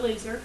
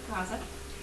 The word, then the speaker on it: Lao Tzu: Alright, not loser, Lao Tzu.